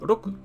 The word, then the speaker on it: 六: It's pronounced as roku, roku.